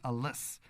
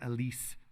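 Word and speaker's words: Alÿs: So there's an artist that I recently came across, Francis Alice, or Elise is, I believe, how he pronounces his name.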